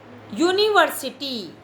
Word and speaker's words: university: University. U is a vowel sound word, but pronunciation is yeah. That's why we are using a.